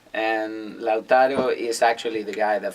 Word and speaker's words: Lautaro: And Lautaro Burgos, right? Yeah. It's Lautaro, Lautaro. Yeah. Is it pronounced properly?